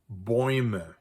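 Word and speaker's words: Bäume: bomb and the plural boyme so in this case you can see the relationship uh but pronounced quite differently right so both of those are oi Sounds here are some examples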